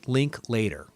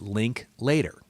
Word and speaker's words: Linklater: You say Linklater, okay? When they announced the Oscar nominations, they said Linklater. I've always said Linklater, okay?